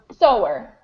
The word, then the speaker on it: sewer: So to sew is spelled S-E-W, and a sewer is a person who does that action of sewing. And it makes no sense how it's pronounced like that.